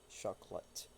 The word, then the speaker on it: chocolate: pronunciation of this one this is chocolate chocolate two syllables chocolate okay thank you thank